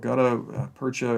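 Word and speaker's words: gutta-percha: a molded rubber and i don't know quite if i'm pronouncing this correctly but it's called gouda percha yeah good gutta percha it just kind of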